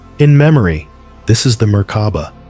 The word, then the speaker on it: Merkaba: Merkaba. 3 syllables, 3 elements, 3 forces that form the core of your being.